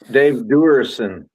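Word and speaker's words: Duerson: In Waterloo, Dave Dursian, is that how you say his name, of the Bears, was the guest, and he came with a purse. Controversial. Oh, Dave Durson from Notre Dame played safety for the Bears.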